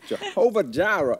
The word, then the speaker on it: Jehovah jireh: ismaira provider yes yes jehovah jireh is my provider yes the lord provides and so the first syllable in jira is i i i i so jai your eye in order